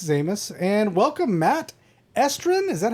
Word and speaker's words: Estrin: And welcome Matt Estrin. Is that how you pronounce that name? Yeah. Yep. Estrin.